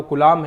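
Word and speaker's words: Coulomb: ऐसा ही मात्रक है आपके आवेश का वो कूलाम है। इंग्लिश में कूलम लिखते हैं, ये इसकी स्पेलिंग होती है, ठीक है।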